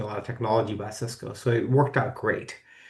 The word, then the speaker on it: Cisco: So thankfully, I was able to join a company, Cisco. Everybody knows Cisco, and I'll say CISCO, not SYSCO.